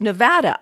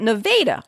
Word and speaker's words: Nevada: Imagine my consternation when I was informed that it was not pronounced Nevada, Iowa, like you would pronounce the state of the same name, but Nevada, Iowa.